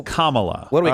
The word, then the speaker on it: Kamala: It's not Camala. Even though Democrats have said that, too. It's Kamala.